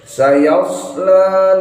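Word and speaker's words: سيصلى: Sayasla naran dzatal lahab. Sayasla naran. Sayasla naran. Sayas sin pakai sin, nggak boleh sya, nggak boleh so. Yas harus pakai sod.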